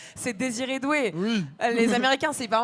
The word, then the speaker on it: Désiré Doué: quand on sort et qui a une belle prononciation, c'est Désiré Doué.